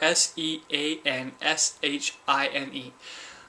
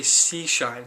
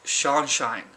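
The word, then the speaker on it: Curseanshine: and your sunshine you are c u r s e a n s h i n e apparently I've gave him a couple of shout outs already and I mispronounced his name every time because I forget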